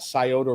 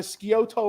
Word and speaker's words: Scioto: And I was telling everybody, yeah, I got a new apartment over by the Scioto River. And That's the Italian pronunciation.